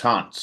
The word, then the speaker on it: Hans: So it's Hans with a staccato S, not Hans with a Z. So not like a ghost, like a ghost haunts a house. That's how you say it.